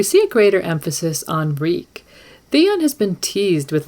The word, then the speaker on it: Reek: man than reek reek reek it rhymes with we so while theon's thoughts